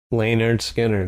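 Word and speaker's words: Lynyrd Skynyrd: and the album is titled is it self-titled pronounced lanard Skinner oh that's the SP yeah oh okay and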